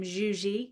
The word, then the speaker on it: Zsuzsi: So that's how we say her name, Xuji. It's like it's a Hungarian name.